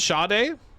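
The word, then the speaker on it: Sade: So, Shade is Nigerian but spelled S A D E.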